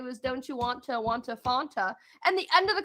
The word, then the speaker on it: Fanta: Now that we're talking about it, you say Fanta. Don't you want a Fanta? That's not how it's pronounced, and I just learned that. It's Fanta.